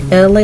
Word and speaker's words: Elay: It's me, LA. Pronounced like LA, like the city.